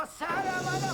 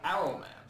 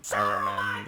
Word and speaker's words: Saruman: Something I never understood in the Bashki film, though, is for some reason they stopped pronouncing the S and simply call him Arrowman.